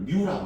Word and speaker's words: μ: 이런 종류로 자 이렇게 쓰고 요거를 뮤라고 읽어 얘들 읽을 때 뮤라고 읽어.